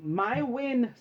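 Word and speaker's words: Maewyn: his full name was my win suck it sort of like the Jewish holiday suck it I don't know um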